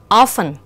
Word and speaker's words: often: Như vậy chúng ta sẽ thấy fasten, often, casual thì cái chữ cái được gạch chân không có phát âm trong những cái từ này.